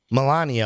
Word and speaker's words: V Milani: anything in the series V Milani oh right that's how you pronounce it yes Milani Oh was number